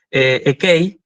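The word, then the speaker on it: ἐκεῖ: Y equi, perdón, me salió la pronunciación moderna, perdón. Ekei, ¿sí?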